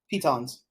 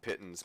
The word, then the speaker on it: piton: Pickaxe, small hammer, and some pitons or pitons, however you want to pronounce them. I always call them pittons, but it's Pitons, whatever.